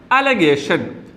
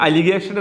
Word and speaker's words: allegation: Related words ആണ് അലഗേഷൻ. ALLEGATION. അലഗേഷൻ, ആരോപണം. ശ്രദ്ധിക്കുക, ഉച്ചാരണം എങ്ങനെയാണ്? അലിഗേഷൻ എന്നല്ല, അലഗേഷൻ, ആരോപണം.